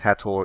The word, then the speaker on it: Hathor: Hello, in this video we'll have a focus on Hathor and the Sistrum, which is a musical instrument, and Hathor, sometimes pronounced Hathor, is a goddess connected with fertility and joy, music and dancing.